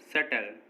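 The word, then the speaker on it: subtle: जैसे date, doubt, सटल, इन सभी words में देखिए टी से पहले बी आया है और जब भी किसी वर्ड में टी से पहले बी आएगा तो बी साइलेंट होगा।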